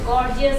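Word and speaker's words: gorgeous: different sound বলো তো গর্জিয়াস বানানোর মধ্যে ফার্স্টে হচ্ছে গ পরে হচ্ছে জ জ গর্জিয়াস জ জ good H ha sound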